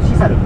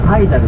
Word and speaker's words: Sisal: ペイン語にするとシサル、 SISAL というふうに書いてシサルというふうに発音するんですけど、英語版に発音するとサイザルというふうになってます。